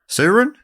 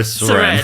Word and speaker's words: Soren: Suren? No, Soren.